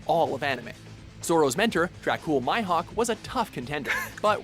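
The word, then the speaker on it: Dracule Mihawk: best swordsman in all of anime zoro's Mentor dracul myhawk was a tough Contender but we're going to be giving the top spot it's pronounced Dracula mihawk but boy to the student that surpassed his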